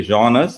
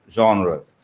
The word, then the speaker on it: genre: This genre is a French word, and that's why it's pronounced like that.